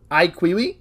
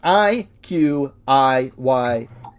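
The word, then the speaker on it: iQIYI: popular streaming services called IQI. I am probably not pronouncing that right. It's IQ Yi if you're interested in that.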